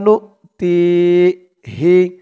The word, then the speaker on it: نؤتيه: يغلب فسوف فسوف نؤتيه, নুন দিয়ে হামজাকে ধরবে, ওয়াওটা বাদ যাবে। নুন হামজা পেশ নু, তায়াজের তি, তি এক আলিফ টান, জেরের পরে ইয়া সাকিন। ফাসাউফা নুতিহি ফায়ুকতাল আও ইয়াগলিব ফাসাউফা